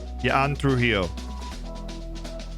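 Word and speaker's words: Yan Trujillo: J's a Y. Jan. Jan. Jan Trujillo.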